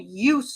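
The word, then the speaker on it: eustress: second type of stress is called UST stress not you but EU s t SS UST stress you stress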